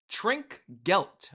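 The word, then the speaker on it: Trinkgeld: Trink gelt. Trink gelt. Okay, that's how you properly pronounce it.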